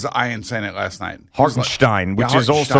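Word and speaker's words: Hartenstein: iron Senate last night hogenstein which is also how Mike Breen says it yeah right right he was doing the whole the German thing well that's I think that's the way it's pronounced Stein that's the way he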